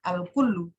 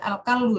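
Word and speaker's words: الكل: Al-kullu. Jangan sampai ada yang baca al-kallu ya.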